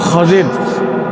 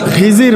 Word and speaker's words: খজির: যিনি তার নাম হল খজির আমরা এই নামটা জানি খিজির বলে আমরা এ নামটা খিজির বলে জানি এটা ভুল। এটার সঠিক উচ্চারণ হল খজির।